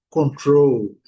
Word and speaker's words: control: Porém, no inglês, essa pronúncia não é das melhores. Essa pronúncia no inglês, ela fica prejudicada, porque em inglês, control, control. Então, a sílaba forte é a segunda.